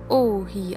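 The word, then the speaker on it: 王妃: königin es bedeutet herrscherin und wird ohi ausgesprochen das zweite komposita besteht aus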